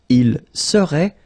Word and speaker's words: serait: So final T is not pronounced. So phonetically, you've got the same form as we had previously. Il serait, elle serait.